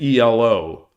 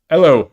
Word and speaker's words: Elo: Oh, so Yloigh, so you think that Elo is pronounced like the E in get. So Elo. Hello, governor. Hello, governor. I'm British. It's pronounced Elo, in it.